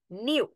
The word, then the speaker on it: knew: নো এর past form হচ্ছে, মানে আমি এটা জানতাম, এটা হচ্ছে KNEW, নিউ। ওকে, কেটা এখানে সাইলেন্ট থাকে নোর টাইমে, নিউ টাইমে।